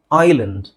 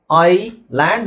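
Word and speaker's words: island: ಅಲ್ಲ subtle subtle subtle ಇದು S silent ಐಲ್ಯಾಂಡ್ ಐ ಲ್ಯಾಂಡ್ ಅಂತ ಹೇಳಬಾರದು ಐಲ್ಯಾಂಡ್ ಐಲ್ಯಾಂಡ್ ಐಲ್ಯಾಂಡ್ okay next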